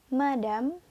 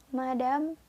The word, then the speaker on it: madame: Ya, kita ulang lagi pengucapannya ya. Yang pertama, monsieur. Yang kedua, madame. Dan yang terakhir, mademoiselle. Monsieur, madame, mademoiselle.